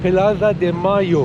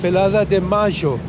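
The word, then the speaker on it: Plaza de Mayo: ने इस वर्ग का नाम प्लाज़ा डे मेयो रखा, या जैसा कि अर्जेंटीना के लोग इसे कहते हैं, प्लाज़ा डे माजो।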